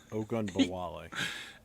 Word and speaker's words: Ogunbowale: Here's a good thing about Ogabawale. I hope I'm pronouncing his name right. Please bear with me. Is he can also kick field goals. Ogunbowale.